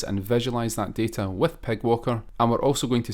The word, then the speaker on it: PyGWalker: first saw this Library I thought you would pronounce that Pi G Walker but apparently this is actually called Pig Walker and what it is